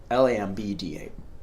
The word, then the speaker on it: lambda: symbol called lambda, and if you want to know it in English, it would be spelled like this, L-A-M-D-A. lambda, which is lambda, which is one wavelength.